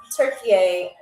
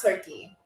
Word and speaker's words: Türkiye: Yes, it is pronounced Türkiye, not Turkey.